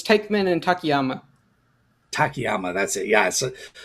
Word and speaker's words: Takayama: It's Teichmann and Takayama.